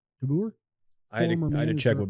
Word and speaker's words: DeBoer: Speaking of the Stars, speaking of Dylan's hockey teams, did you see the news that can't pronounce his name? DeBoer. DeBoer.